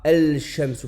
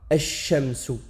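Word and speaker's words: الشمس: Donc le lem là, on ne le prononce pas. On dira ash-shamsu et non pas al-shamsu.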